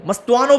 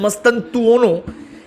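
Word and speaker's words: Mastantuono: बहुत बहुत डिमांड आ रही थी फ्रांको मस्तुआनो, मस्तुआनो बोलता हूं, वैसे उसकी प्रोनाउंसिएशन है मस्तनतुओनो।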